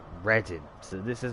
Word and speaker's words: Reading: redding no sorry it looks like reading but you pronounce it as ready so this is how